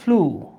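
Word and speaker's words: flew: বিশ্বাস না হলে এখনই ডিকশনারিতে দেখতে পারেন, এটার উচ্চারণ হচ্ছে ড্রু, এইটার উচ্চারণ হচ্ছে ফ্লু।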